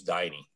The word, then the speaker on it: Diney: is and she said no my name's diney you pronounce it diney and i said why